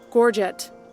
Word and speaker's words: gorget: gorgeous hang on that word is losing meaning gorget nope yep that's how it's pronounced your gorgets are well made strong and